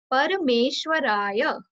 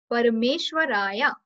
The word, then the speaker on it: Parameshwaraya: Parameshwaraya. Parme plus Ishwaraya. Parameshwaraya.